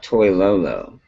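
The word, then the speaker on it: Toilolo: the the development of toy loo is that how you say his name that's exactly how you say it has yeah LaVine Toyo he has been a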